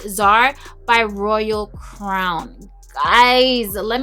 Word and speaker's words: Tzar: have i think it's tsar it's spelled t-z-a-r but one of my subbies told me that it's pronounced czar by royal crown guys